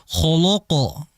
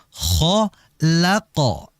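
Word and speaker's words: خَلَقَ: huruf yang tipis jadi jangan sampai dibaca kholqo tidak Jangan dibaca tebal lnya kholqo tidak yang betul khho laqo ya La bukan loq loqo bukan jadi jangan sampai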